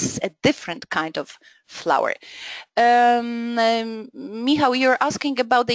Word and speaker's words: flour: The pronunciation is exactly the same as the word flour.